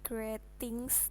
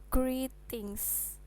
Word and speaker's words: greetings: itu misalkan ini ini dibacanya Bukan gretings tapi greetings E2 ini jadinya I greetings ini juga gitu introduction